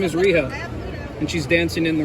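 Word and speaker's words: Rhio: ah there she is on Hiatus they got Owen Hartz down there rijo rijo you say her name is Rio and she's dancing in the rain up above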